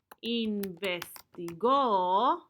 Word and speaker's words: investigó: In this context, we would say something like, el policía investigó la causa del incendio. The police investigated the cause of the fire. Investigó. Con acento en la O.